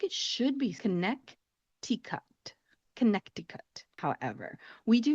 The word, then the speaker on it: Connecticut: The third state on our list has a silent letter in it, and it is one of the longer names for a state name, and it is Connecticut. Connecticut.